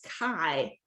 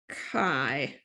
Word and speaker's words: chi: so it's really important that you call this chi okay it's it's a greek letter of course and so here we pronounced chi okay and it's written as kind of a